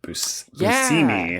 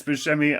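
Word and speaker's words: Buscemi: My friend John is an actor on a TBS show called Miracle Workers with Steve Busimi. That's what I'm getting at. John said that he learned that it's actually pronounced busimi.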